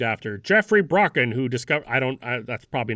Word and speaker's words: Brocken: Is it a broken specter or a Brocken specter? Because it's spelled with a CK. And I was like, I too was learning that for the first time. I thought it was Brocken. It's probably Brocken because it was named after Jeffrey Brocken, who discovered.